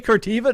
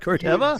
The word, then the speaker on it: Corteva: Did I say Corteva, not Corteva?